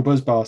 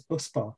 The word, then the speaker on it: busbar: isn't it the dual buzz bar system sorry that's what just fitted shout out to mainline electronics picking me up for saying uh buzzbar instead of busbar how do you pronounce